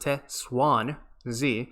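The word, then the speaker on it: Te Xuan Ze: So Test 1Z, Te 1Z, pronounced Te Swan Z, which means the chosen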